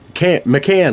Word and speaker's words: McCann: McCann, like an Irish pop, can.